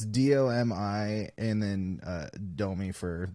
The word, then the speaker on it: Domi: called not tight it's d-o-m-i and then uh Domi for the the girl is that yeah that's that's how uh she pronounces it yeah it's like Dominique or something like she's French so it's like Dominique